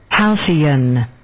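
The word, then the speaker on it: halcyon: Houseian.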